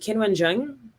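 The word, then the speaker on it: Qinwen Zheng: Is it Kinwen Zheng? I'm sorry. I blanked. I'm so sorry. What was the question? If I'm just pronouncing her name correctly.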